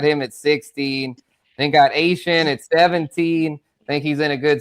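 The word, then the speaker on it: Etienne: The new pronunciation, yes, not Devon A-Chain. This is Travis Asian. ATN. Yeah, or ATN for those. I put it on the ticker. I know. ATN at 17. Yeah, for sure. Asian. Yes, the Cajun pronunciation, the Cajun French way.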